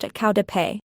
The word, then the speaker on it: qaug dab peg: Qaug dab peg, literally, the spirit catches you and you fall down. The Hmong term for epilepsy is pronounced qau de pei.